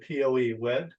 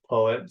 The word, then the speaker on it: PoE: at the end so poet um some folks pronounce it Poe wi um you know which is fine but it's pronounced poet so obviously the company is pretty much based